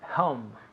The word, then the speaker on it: home: Home. Yes, home. Home. Muy bien. H-O-M-E. Home. Ese O suena como si fuera una O-U.